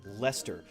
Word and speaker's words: Leicester: of the leicester alliance lester look at all those extra words in between or extra letters i'm sorry lester right so you need the l and then the e-s-t-e-r but there's an extra e i and c in there that doesn't make